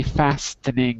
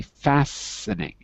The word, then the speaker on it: fastening: sitting the seat belt it's spelled with the t but you don't pronounce the t you don't say fastening you say fastening the seat belt okay